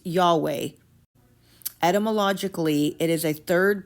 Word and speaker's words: Yahweh: indicate that most probably it was originally spoken jahe pronounced yahweh etmologically it is a Third person singular imperfect probable of the verb hawa or hawa signifying to be.